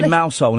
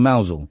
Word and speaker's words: Mousehole: So if they say Mousehole instead of Mousel?